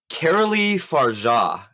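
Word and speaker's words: Coralie Fargeat: Caroli Farja is how you pronounce it.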